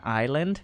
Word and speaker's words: island: leaguers okay it's like the s in island you mean is land